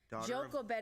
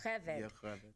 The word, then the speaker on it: Jochebed: Jochebed is what people say. It's Yocheved. J's are Y's. Latin vowels. That's how we pronounce.